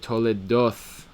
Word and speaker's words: toledoth: the Yemenites, the Temanim, a thav without a dagesh, thav rafui, like in the word toledoth, the th kind of sound with your teeth.